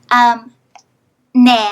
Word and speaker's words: nè: Nè has a vowel that requires a lot of effort to pronounce.